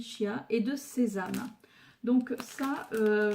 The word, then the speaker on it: chia: C'est 500 grammes de graines de, alors ça se prononce apparemment Kia, mais moi je dis Chia, et de sésame.